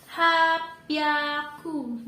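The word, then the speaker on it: 八百: 800 itu dibaca hapyaku.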